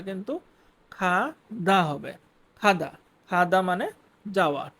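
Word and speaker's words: 가다: Next খাদা। খাদা। খাদা যদিও ইংলিশে এখানে জি দিয়ে লেখা বাট এটার উচ্চারণটা কিন্তু খাদা হবে খাদা খাদা মানে যাওয়া টু গো কোথাও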